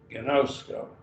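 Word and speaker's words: γινώσκω: Gnosko. Three syllables. Got a vowel, an iota, an omega, and another omega. So each vowel gets unless it's in a diphthong, gets a syllable.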